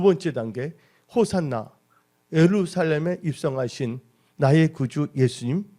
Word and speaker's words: 호산나: 이 호산나는 헬라어로 발음할 때 호산나라고 합니다. 원래 이 호산나는 히브리어에서 왔습니다. 히브리어 호시아나에서 나온 것입니다. 호시아나에서 나와서 헬라어에서는 호산나라고 부르는 것이에요.